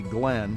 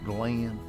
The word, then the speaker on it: Glenn: And he pronounced my name in two syllables, kind of the way I was raised to to hear it. He didn't say Glenn, he said Glenn.